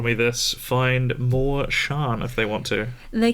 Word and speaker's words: Charn: wonderful listeners of R me this find more Shan if they want to they can find more of me at Shan comedian on Facebook um Shan c h a r n because as I